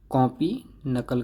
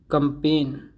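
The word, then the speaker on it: campaign: फिर से देखिए, ये सही प्रोनाउंसिएशन है इसकी, क्योर इलाज करना, कट काटना, साइकिल साइकिल चलाना, कंपेन ये कंपेन नहीं है, कैंपेन है, कैंपेन अभियान चलाना, कैप्टिवेट मोह लगाना, कैप्चर कैद करना, कोई तस्वीर वगैरह वगैरह आप कैप्चर करते हैं।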